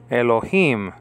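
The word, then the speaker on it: אלוהים: You see, Elo, you have two syllables there, Elo. And then the last syllable is Him. Elohim is the word for God in Hebrew.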